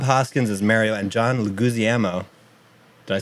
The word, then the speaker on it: Leguizamo: Stars Bob Hoskins as Mario and John Leguizamo.